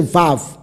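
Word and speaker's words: ו: 个音调，就是你要念这个时候就是 v，而不是 u，乃是 vav。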